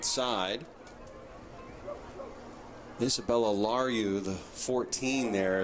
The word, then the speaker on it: LaRue: Isabella Larue, the 14 there, is LaRue. I think we pronounced her name wrong the entire time last year, but it is LaRue.